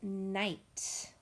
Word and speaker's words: knight: I'm just going to start at the top with the word knight, like a knight in shining armor.